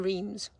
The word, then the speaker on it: Reims: I've had a very quick stop in Reims, and I say Reims, but apparently I don't mean Reims, I mean Reims or Reims.